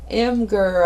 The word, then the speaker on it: Imgur: So anyway, I'm going to go into, this is Imgur, I think you pronounce it, IMGUR.